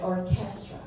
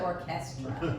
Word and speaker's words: orchestra: Because I say it in a French way, orchestra. And he said, no, I think it's sexier orchestra.